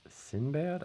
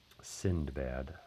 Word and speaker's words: Sindbad: I always thought it was Sinbad. I don't know if there's a couple different versions of it in terms of like how you say it, but Sindbad.